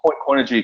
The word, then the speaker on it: Coinigy: A question about a platform that's calling itself being asked as an all-in-one platform, and I'm going to spell it out: COINIGY. Yeah, so Coinigy.